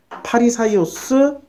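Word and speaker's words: Φαρισαῖος: 예 그 10 그 헬라어 으로 발음하면 파리 사이오스 중국어 식으로 중국어 발음으로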